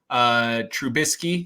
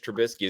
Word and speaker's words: Trubisky: Trubisky, is that how you say his name? Trubisky, Yeah.